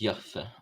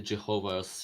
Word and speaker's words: Yahweh: If I remember correctly, we don't actually know exactly how it's pronounced because some of the letters weren't written in the alphabet. They were just kind of only in the spoken language.